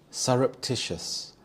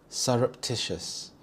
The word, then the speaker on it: surreptitious: Surreptitious. Surreptitious. Here the stress is on the third syllable. Tish. Surreptitious.